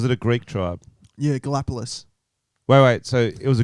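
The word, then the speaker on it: Galápagos: Galapagos is definitely how you say it.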